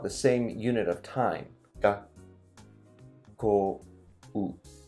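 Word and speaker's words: がっこう: Ga, ko, u. It's like 4 beats, even if it's only 2 syllables.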